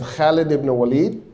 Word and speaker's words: Khalid: Um, in this case, the person is named Khaled. Good pronunciation.